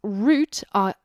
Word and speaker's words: route: little bit awkward because in british english we pronounce root as in r o u t e as root but that can also